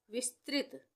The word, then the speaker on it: विस्तृत: विस्तृत, विस्तृत, विस्तृत, त में री की मात्रा, त्रित हम बोल रहे हैं, त्रित, विस्तृत।